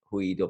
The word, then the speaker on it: Hui Do: We get all kinds of different pronunciations of it, but that's how it's really sounded out. Hui Do Pipeline Club.